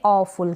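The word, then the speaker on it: awful: है यह जो है इसको हम पढ़ेंगे ऑफुल क्या पढ़ेंगे ऑफुल यानी जहां पर एफ यू वाल आ जाए तो आपको सीधा फुल पढ़ देना है और ये औ है जैसे ए डब्लू है ओ और फुल ऑ फुल इस तरीके से पढ़े ऑफुल का मतलब है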